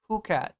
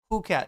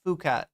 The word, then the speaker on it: Phuket: Christ Elijah, it's pronounced Phuket. Phuket, not Phuket or fuck it.